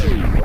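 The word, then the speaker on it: Tourian: I've said it before, I've always pronounced it terrain, so I kind of stuck on pronouncing it that.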